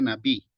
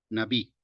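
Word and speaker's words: נביא: libro de Deuteronomio aquí profeta se pronuncia nabi navi y Generalmente está traducido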